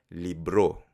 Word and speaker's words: libro: Ten en cuenta que la pronunciación de libro en filipino es libro. Libro. El acento en la última sílaba.